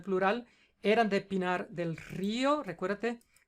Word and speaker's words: Río: Eran de Pinar del Río, recuérdate, cae la fuerza de la pronunciación en la I. La I es una vocal débil, por lo tanto le pones la tilde.